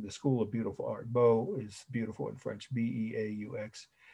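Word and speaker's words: beaux: then third word well after of is bo french for beautiful b e a u x right and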